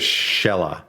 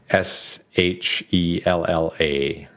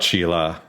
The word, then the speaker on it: Shella: no it's okay uh her name is shella okay s h e l l a shella uh the other one was an f name no it's not sheila you wish sheila would